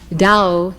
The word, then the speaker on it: Tao: key to our immortality Dao in Chinese which as you know is spelled t-a-o Dao means Road way